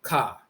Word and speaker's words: Ka: The term soul in ancient Kemet is actually Ka. They'll mispronounce it, define it as spirit, but it's really Ka, the soul.